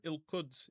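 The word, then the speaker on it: القدس: So, B means in, ill means the, and with that glottle K sound or glottle Q, however you want to think of it, okay? means Jerusalem. Ilkuds is Jerusalem.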